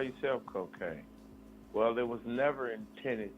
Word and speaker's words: Kokane: People say, why you call yourself Kokane? Well, it was never intended to perpetuate drugs, even though we talk about the hardships of growing up in the hood. Cocaine is spelled Kokane.